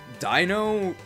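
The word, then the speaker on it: Deino: say it which I think does actually put Dino in our top six it might so Master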